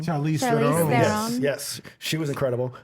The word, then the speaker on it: Charlize Theron: Charlie Theron. I always forget how to pronounce her last name. Charlize Charlize Theron.